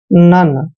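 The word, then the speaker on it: none: है देखिए डन जैसे एन एन को हम न पढ़ते हैं और ओ एन ई का उच्चारण यहां पर अन करते हैं मतलब नन ठीक है ना नन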